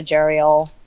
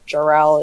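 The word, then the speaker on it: Jarael: have a shanteek and a jereal or jor-el is John Jackson Miller pronounces it so I have to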